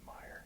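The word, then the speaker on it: Mier: Is it Meyer? Yeah, M-I-E-R.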